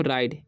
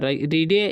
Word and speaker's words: ride: इसे पढ़ते हैं हम राइड, आई का उच्चारण आई हो जाता है, ठीक है। डी का ड, तो पढ़ेंगे हम राइड, ई का उच्चारण नहीं हुआ, रीडे या राइडे नहीं पढ़ना, ठीक है।